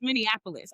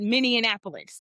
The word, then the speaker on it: Minneapolis: I didn't even know how to pronounce Minneapolis. I called it Minianapolis.